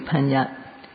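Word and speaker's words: paññatti: there's a word called panyatti and in burmese it's pronounced similarly panya and in english sometimes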